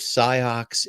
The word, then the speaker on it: Sioux: And my mother said, no, it says Sioux. I said, but it has an X in it. Because I hadn't heard it pronounced.